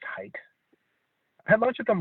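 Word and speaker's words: Haidt: i d t it's his last name let's pronounce height i had lunch with him once at a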